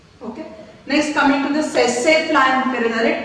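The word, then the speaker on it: tsetse: Next, coming to the sassafly, T is silent over here.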